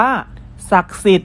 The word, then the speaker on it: ศักดิ์สิทธิ์: เหมือน เดิม นะ ครับ เรา จะ ไม่ ออก เสียง พยัญชนะ และ สระ ที่ มี เครื่อง หมาย ทัณฑฆาต กำกับ อยู่ นั่น เอง ครับ เช่น คำ ว่า เผ่า พันธุ์ อ่าน ว่า เผ่า พันธุ์ ศักดิ์สิทธิ์ อ่าน ว่า ศักดิ์สิทธิ์ อยู่ กาฬสินธุ์ อ่าน ว่า